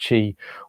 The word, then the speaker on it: Qi: So in the past, Qi was spelled CHI, but now the modern way of spelling it is QI, but it's still pronounced Qi. So it's a bit like CHI, and that's your life force energy.